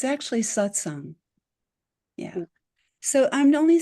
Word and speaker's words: satsang: of throwing the word away if you don't pronounce it properly. So one of the things people say is satsang or satsang. It's actually satsang.